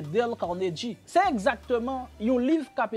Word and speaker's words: Dale Carnegie: Au cinquième livre là, pour moun qui pas connaît, si nous t'a prononcé en français, nous t'a dit Dale Carnegie, mais en bon anglais c'est Dale Carnegie.